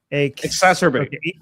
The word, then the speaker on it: exacerbate: Exacerbate exacerbate. It's like masturbate but more exacerbatory.